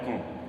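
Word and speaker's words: comb: लिखा हुआ है कॉम, कॉम तो दोस्तों सभी जानते होंगे, कॉम होता है कंगा, कंगी, बाल संवारने का यंत्र, तो उसको कहते हैं क्या, कॉम।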